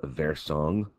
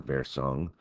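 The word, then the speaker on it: Wirsung: called the duct of versong you know if you go with the German pronunciation I believe that was discovered of course by Dr versung and the accessory duct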